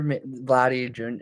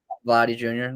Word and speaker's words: Vladdy Jr.: Well, from a distant baseball perspective, I think who's their Vladdy Jr. Is that how do you pronounce his Yep. name? Yeah, you got it. Vladdy Jr.